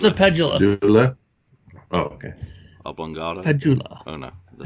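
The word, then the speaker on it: Pedulla: It's a Pedula.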